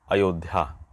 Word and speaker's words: अयोध्या: जैसे मान लीजिए बोल दिए कि अयोध्या, अब जैसा सुनते हैं उसी तरह से कोई कोई विद्यार्थी लिखते हैं, जबकि उसका शुद्ध रूप होगा यहाँ पर अयोध्या।